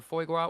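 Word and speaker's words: foie gras: I use gua or foy gua. What? Duck fat. You said it right. You said it right. Hell yeah. So I use foy gua.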